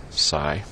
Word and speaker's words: Psi: it's the letter Sai it's pronounced Sai and it's spelled PSI it's not a proper